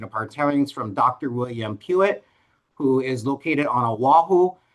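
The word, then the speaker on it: Puett: His last name is spelled Pue T pronounced Pewitt.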